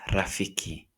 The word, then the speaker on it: rafiki: For the vowels, we have a pronounced as a like father. In one of the words that we might say or might use is rafiki.